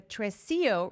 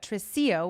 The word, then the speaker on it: tresillo: In this tutorial, I'm going to teach you how to sing and play the tresillo rhythm on piano.